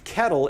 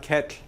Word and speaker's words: kettle: different type of l the l has essentially become a vowel realistically there's like a little bitty vowel before it but it's kettle it's not ket right um but you